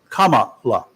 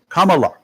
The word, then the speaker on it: Kamala: her name is is pronounced comma la like the punctuation mark comma and then L comma Kamala Kamala Kamala Kamala Kamala yes jeez